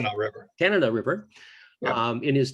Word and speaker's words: Tanana: Is the Tanana River? Is that the correct pronunciation? Tanana River.